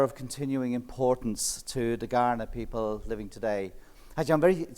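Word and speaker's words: Kaurna: continuing importance to the garnet people living today i'm very intrigued that uh it's with a k but pronounced g i checked this but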